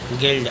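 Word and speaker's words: guild: य यू के बाद आई स्वर ऐसे पढ़ेंगे गिल्ड अगला है जी यू आई एल टी यू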